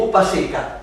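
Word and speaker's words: Upasika: ¿Cómo se escribe ese Upasica? Upasica, U-P-A-S-I-K-A.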